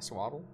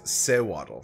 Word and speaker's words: Sewaddle: I think it's Sewaddle. Sewaddle. So there's an E in between the S and W.